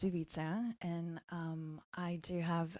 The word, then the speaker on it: Ivica: here yeah so um the way um I pronounce my name is ubisa and um I do